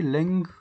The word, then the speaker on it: length: anglais, bah, vous diriez length count et on entendrait le t final. Alors que quand vous prononcez length, c'est bien d'abord un G, puis un TH.